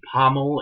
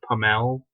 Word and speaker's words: Pommel: Why is it whenever I try to say her name, I say Pommel instead of Pamel?